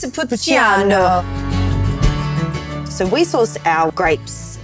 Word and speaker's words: Montepulciano: And I'm really hoping I'm pronouncing that correct. Montepulciano.